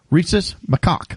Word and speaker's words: Rhesus macaque: But they raise monkeys there, and the monkey is RHESUS MACAQUES. And I looked up the proper pronunciation because I didn't. Rhesus macaque.